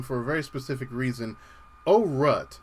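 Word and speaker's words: Aurat: a very specific reason oh rut now that's spelled a-u-r-a-t now you're wondering why am i pronouncing it that way well let me get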